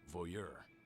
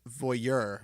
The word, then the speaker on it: voyeur: That I have never heard someone pronounce it voyeur with the emphasis on the second syllable. I've always heard it pronounced voyeur. Maybe that's just because I'm Southern.